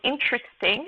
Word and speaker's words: interesting: so uh for instance if you take the word interesting and you beat it out with your hand uh students will be able to hear that there are really three syllables in pronunciation not four as it might seem when you're reading the word and then the stress is on the first syllable uh which is longer and louder than the others so um again this